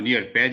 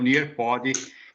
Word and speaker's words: Nearpod: Eu gostaria até de chamar a atenção do Brian, do pessoal que estava há 2 dias atrás, que eu tinha pronunciado Nearpad, e é o Nearpod, que é das ferramentas que eu havia comentado.